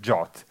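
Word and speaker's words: JWT: has emerged which is called Json web tokens pronounced jot and this is a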